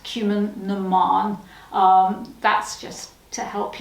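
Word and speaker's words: Cumann na mBan: see it and it's spelt cumin bon it's pronounced cumin naman um that's just to help you because it's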